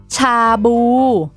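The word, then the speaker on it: ชาบู: In Thai, we pronounce chabu, chabu.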